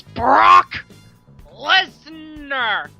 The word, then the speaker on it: Brock Lesnar: ago and he wants he not saying it correctly it's Brock Lesnar and the WWE title